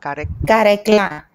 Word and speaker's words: Karekla: Karekla. Am I saying that right? Karekla. Beautiful. That's so good enough. Yes. That's good enough. How do you say it? Karekla.